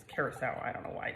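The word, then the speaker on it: curaçao: You guys all know that I pronounce this incorrectly constantly, but that is actually how you pronounce it, curacao.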